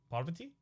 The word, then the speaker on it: Parvati: It's like pa as in golf with a long hard R. Vati, short, and a hard T. It's been driving me nuts. Parvati? Parvati? Parvati? Parvati? Is it Parvati?